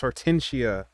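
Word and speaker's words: Hortensia: i'm i'm sorry slim it's artensia and i'm saying your name wrong actually you know what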